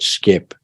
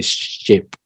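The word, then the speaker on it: shqip: of course and the language is called skip we say skip they say ship so I can't pronounce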